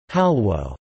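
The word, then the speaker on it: Xalwo: Zalwo, pronounced halwo, or halva is a popular confection eaten during festive occasions, such as Eid celebrations or wedding receptions.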